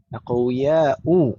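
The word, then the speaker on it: أقوياء: Aqwiya'u, nggak boleh tanwin dong ya. Bacanya jangan sampai dibaca tanwin, aqwiya'u, tidak boleh tanwin.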